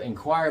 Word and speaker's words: inquire: I'd like to inquire about that. I need information. And so I make an inquir about that. In choir in choir choir like singing, right? Choir, but it's spelled totally different.